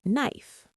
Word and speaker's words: knife: We don't pronounce the K. It sounds like knife.